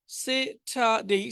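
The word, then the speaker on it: Saturday: সে ঠা দেই সেটাই এই র টা না উচ্চারণ করলে ভালো সেটাই সেটাই সেটাই সেটা ডেই সেটারেই সানডে সেটারে অর্থাৎ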